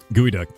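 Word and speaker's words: geoduck: Gooey duck. Yeah. Spelled G E O D U C K. As far as I know, it's pronounced gooey duck.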